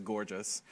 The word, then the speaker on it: Görtjes: I just want to say the only correct pronunciation of my last name is Görtjes, just so you know.